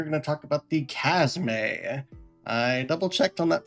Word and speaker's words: Chasme: And in today's video, we are going to talk about the Casme. I double checked on that pronunciation that.